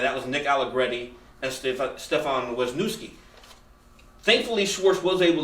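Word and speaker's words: Stefen: Nick Allegretti had two offensive snaps before today, and Steph, do you pronounce it Stefan? Yeah, he goes Stefan.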